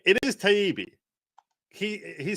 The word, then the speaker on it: Taibbi: It is Taibbi.